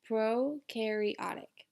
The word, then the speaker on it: prokaryotic: And notice I wrote down the pronunciation of the word. It's prokaryotic.